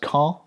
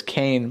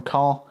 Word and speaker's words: Caen: It's pronounced Caen, I think. I thought it was Cane, but I guess it's Caen, something like that.